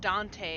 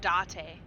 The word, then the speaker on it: Date: It's not pronounced Dante, it's pronounced Date.